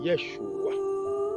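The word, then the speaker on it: ישוע: haut soit sur toi Jésus Jésus est un terme hébreu qui veut dire Sauveur en réalité ça se prononce Yeshua il y a Yeshua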